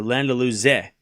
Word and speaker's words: Landaluce: Just FYI, Cam, Landaluce is pronounced with a C, sounding like a Z. Hard for English, I know, and the pronunciation of the E as in eh. So Landaluce.